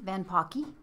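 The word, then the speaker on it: Van Poucke: So on the water board, on the golden ticket for the Maricopa County Republicans, we have Rory Van Pocky, okay? Mm-hmm. It's spelled Van, P-O-U-C-K-E, but it rhymes with hockey.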